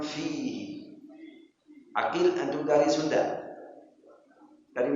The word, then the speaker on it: فيه: Kitabun fi waktu baca fa harus keluar nafas, jangan kitabun bihi ini enggak boleh bihi fihi, harus bacanya waktu bacanya keluar nafas. Kitabun fihi.